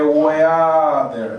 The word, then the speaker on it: weather: Water. Weather. De weather. No es water. Es weather.